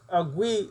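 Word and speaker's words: Agwe: In the certain traditions of Haitian voodoo, the met agui, or which is similar to agua, is just said differently in Creole.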